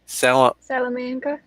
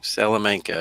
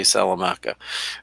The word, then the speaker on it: Salamanca: always get it wrong salamanca salamanca salamanca new york near institute the hotel said pronounce it like salamander yeah but like i still will pronounce it wrong salamanca i keep want to say salamaca but anyway salamanca new